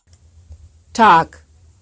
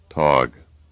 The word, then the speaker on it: Tag: Here is a word often mispronounced by English speakers. You will first hear it right and then wrong. Tag, Tog.